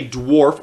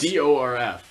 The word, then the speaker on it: dwarf: He was a dwarf, or a dwarf, as he originally pronounced it to us. DORF.